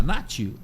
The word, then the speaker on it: Nachi: é um problema Mundial né bom voltando paraa Nati né Nati é a pronúncia em japonês na é pronuncia japonês o nosso Tupiniquim Nash n é Aceito Sem problema nenhum e é